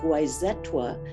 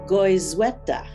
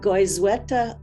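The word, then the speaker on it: Goizueta: which has been renamed the gwyzetwa no goyzweta that's how you say it goes weta alzheimer's disease research center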